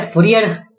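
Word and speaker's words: Fourier: सकता है fx, इसका फोरियर ट्रांसफॉर्म, फोरियर को फोरियर बोलते हैं एक्चुअली, इसका प्रोनाउंसिएशन जो है फोरियर है।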